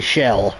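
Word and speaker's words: Kjell: That's how it's spelled. KJL Olsen. It's actually Shell.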